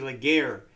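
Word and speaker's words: Laguerre: it's it's it's the Leger RSI that's how it's pronounced leer or something it's a French word yeah but um you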